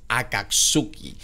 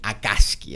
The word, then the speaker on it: Akatsuki: no me estoy equivocando la pronunciación que utilizamos es Akatsuki Aunque varios compañeros le dicen akaski Así que ahí ustedes